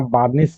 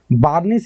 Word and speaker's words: burnish: तो फर्बिश वर्ड का मतलब क्या हो गया, चमकाना, किसी चीज को पॉलिश करना, बार्निश करना। बार्निश is also very good word, B, ठीक है, बर्निश, BURNISH।